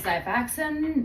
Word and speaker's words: Xifaxan: you're using it's rifaximin, I've been calling it Xifaxan, but I guess the Z is silent.